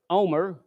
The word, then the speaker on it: homer: 1 omer, actually you don't pronounce the H, is equal to 11 bushels.